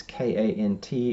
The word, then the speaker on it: Kant: It's K-A-N-T. It is pronounced Kant.